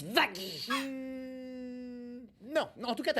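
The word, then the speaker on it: Vaggie: que ton petit nom c'était la bouchère ma chère Vie pour toutes ça se prononce Vagy.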